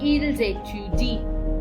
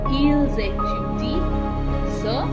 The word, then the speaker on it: ils étudient: So, ils étudient. The sound is Z because S plus vowel is a Z sound.